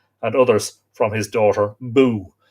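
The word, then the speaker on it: Bugh: others from his daughter boo that's b-u-g-h but what's pronounced b-o-o angus machinague another son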